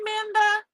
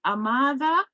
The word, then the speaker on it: Amada: Hi, Amanda. Oh, no. I said it wrong. A Amada.